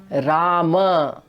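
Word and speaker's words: राम: see is that of not pronouncing the Hrasva A at the end of a word. For example, this word written over here is Rama, Rama, and most probably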